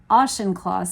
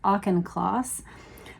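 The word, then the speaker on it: Auchincloss: I realize now somebody corrected me in the comments that I've been saying it wrong. I've been saying ashenclaus. Apparently, it's a claus.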